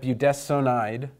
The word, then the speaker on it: budesonide: And so we have budesonide, and we pronounce this S-O-N, not as sun, but as sown.